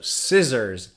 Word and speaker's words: scissors: cut paper and stuff so scissors see silent or another example is